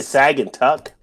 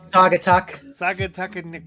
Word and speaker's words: Saugatuck: Company in Douglas Michigan say sagging tuck that can't be right I'm just gonna look up how to pronounce that can't be right yeah Saugatuck yes it's a guitar Michigan's